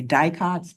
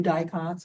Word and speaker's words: dicots: monocots Compare monocots to we tend to shorten it and just say dieots but technically u dicots is the correct way to say it.